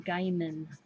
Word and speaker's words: Gaiman: mom is coming in on the 9th it's pronounced Gaiman game and gaming gaming something okay Neil